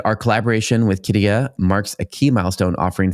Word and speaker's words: Qiddiya: Speaking of dragons, the Qiddiya, how do you pronounce it, Scott? Qiddiya.